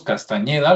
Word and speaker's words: Castañeda: Carlos Castañeda, lo voy a pronunciar con ñ, parece ser que él